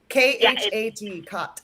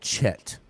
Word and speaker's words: khat: And can you spell it? Khat. Khat. Yeah, Khat. Okay, Yes. I think I've tried this. I thought it was called Chet.